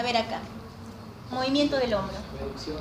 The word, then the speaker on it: abducción: Abducción. No, la palabra correcta como se pronuncia es abducción. No es ave.